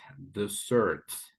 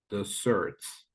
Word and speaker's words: desserts: This word is desserts. Desserts. So the emphasis is on the second syllable, right?